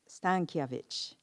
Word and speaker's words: Stankiewicz: Oh, her name is Monica Stankiewicz. And I was told the pronunciation by one of the students today.